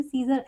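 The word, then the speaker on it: scissors: सीजर, एस के बाद हमारा सी आता है।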